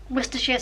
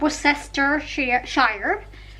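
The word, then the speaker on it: Worcestershire: sauce if you're American try and pronounce this werer sauce not not Wester sh wer she and I'm just going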